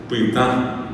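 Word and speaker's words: pytã: La a es nasal. Pitán.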